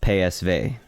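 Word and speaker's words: PSV: sweat free win against pay SV yes that's how you pronounce it in Dutch so very comfortable win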